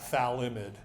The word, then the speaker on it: phthalimide: This amine-based compound has a strange name that involves a pH and a TH, and you just basically pronounce that as F and a TH. So mostly people drop the F and just call that phthalimide.